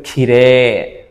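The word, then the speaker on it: 綺麗: ওকে এটার উত্তর হচ্ছে জাপানিজরা কিরেই শব্দটাকে কিরেই বলে না কিরেই শব্দটাকে বলে খিরে আবার ইউমেই শব্দটাকে ইউমেই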